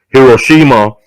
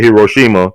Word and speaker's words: Hiroshima: They say Hiroshima. Some people say Hiroshima. Some people say Hiroshima. And they're both right.